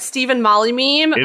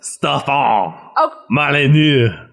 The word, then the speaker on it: Stefan Molyneux: Stephen Molly meme. It's pronounced Stefan Molyneux.